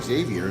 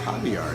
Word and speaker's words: Xavier: I see this word Xavier on the signs all over down there in Arizona, and they pronounce it Javier.